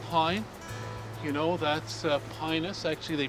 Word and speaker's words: Pinus: yeah and lodgepole pine you know that's uh pinus actually they pronounce it the lat the proper laden pronounced eyes like ease so it's actually penis it's a penis contorta so we've arrived in